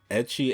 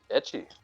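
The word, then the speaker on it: ecchi: got out here but i don't want to mispronounce it uh what edgy anime am i saying that right etchy oh wow i just explained it in australia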